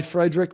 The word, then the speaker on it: Friedrich: Friedrich. That's from Friedrich. Lucille Ball. Fred Mertz. He was their friend. Oh, Okay. I didn't know that. Friedrich. Okay, I did mispronounce it. Friedrich.